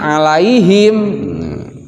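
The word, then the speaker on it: عليهم: Terus yang di sini ya sukun setelah harokat fathah yaitu alaihi, alaihi, alaihim. Sama gitu kan. Bacanya jadi lai itu. Jadi dari huruf A ke I dibaca semua lai, jangan lae. Yang di depan juga kalau yang di depannya yang sukunnya itu huruf wau, qau.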